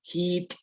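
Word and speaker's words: jiit': toj, A ver, dime la palabra hit.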